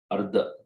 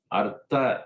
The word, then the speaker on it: Artha: Parabalardhanam, Parabala Ardhanam, Ardhanam to destroy, Ardha, not Ardha. Ardha is to destroy, to kill. Ardha is half. Artha is wealth. Artha. So there's a, Artha, the word is to be very nature. I mean, the pronunciation is to be Artha, Ardha, Ardha.